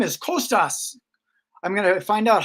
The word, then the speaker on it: Kostas: there he is hey Costas how are you awesome doing really good thanks how are you how do I pronounce it is it Costas uh actually it's Costa like Costa Rica Costa so you leave